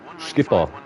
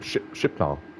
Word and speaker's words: Schiphol: Schiphol ground, EI Schiphol. That's how you pronounce it. I was pronouncing it Schipnol.